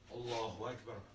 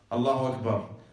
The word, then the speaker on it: Allahu Akbar: But before we proceed, let's talk about the pronunciation of the takbir. How do you say the takbir? Allahu Akbar. Allahu Akbar.